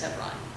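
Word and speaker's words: Hebron: you look at it it's h e b r o n is how it's spelled but it said heon yeah yeah we say heon but Israeli is with the be yeah so it's just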